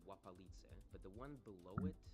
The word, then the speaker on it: Łapalice: That's Polish up there, but you can tell by the L with a strike through, which is pronounced like a W basically. It's Łapalice.